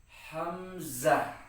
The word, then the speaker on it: hamzah: Kemudian ada juga hamzah. Hamzah ini cara membacanya hampir sama dengan bacaan alif. Alif dibaca a ketika fathah dan hamzah juga dibaca a ketika fathah gitu kan.